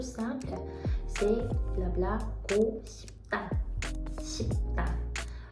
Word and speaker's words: 싶다: C'est blabla, go, 싶다, 싶다. Ça s'écrit comme si avec un P, mais ça se prononce comme un B.